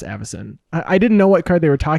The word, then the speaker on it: Avacyn: I had a friend who used to pronounce Aviacin, Oh. and it was like, oh, that is such a fancy set, Aviacin Restored. And then they were like, oh wait, it's pronounced Avacyn.